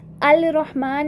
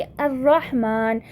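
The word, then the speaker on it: الرحمن: रॉ को शद्दा के साथ पढ़ा, अल रहमान नहीं बोला बल्कि अर्रहमान, तो ये क्या है हमारे पास? सोलर लेटर है।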